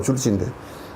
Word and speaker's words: 줄지: 그게 뭐냐면, 이건 줄탁 동시라 그러는데, 우리 한국 사람은 그냥 졸지라 그래, 이걸. 원래는 발음은 줄지인데.